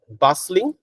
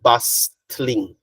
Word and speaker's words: bustling: the T it's not bustling we don't pronounce the T okay we only pronounce the S so a basing City